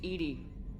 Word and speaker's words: EDI: Why are you named Edy? ED is the phonetic pronunciation of EDI. That is an acronym for enhanced defense intelligence.